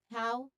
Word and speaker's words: how: So pronunciation tip here is that it it just you know rhyme with cow how cow. They just had, you know, they just both have different beginning sounds.